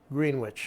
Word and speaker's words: Greenwich: Greenwich. Greenwich. Yes, we're not in New York, Connecticut, or the prime meridian of London. They pronounced it Greenwich, these people.